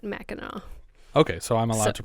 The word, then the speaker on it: Mackinac: It's spelled Mackinac, but in my Midwestern brain, I'm for some reason remembering it as Mackinac. But okay. So if you're native to the area, you do pronounce it Mackinac.